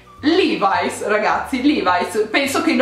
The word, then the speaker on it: Levi's: Io l'ho sempre pronunciato Levi's fino a quando ho sentito gli americani pronunciarlo Levi's e poi mi è venuto il dubbio, ma com'è che si pronuncia veramente Levi's, Levi's, boh? E cercando su internet mi sto rendendo conto in questo momento che si pronuncia Levi's, ok? Quindi evidentemente l'abbiamo sempre tutti pronunciato male in Italia, ma è Levi's, ragazzi, Levi's.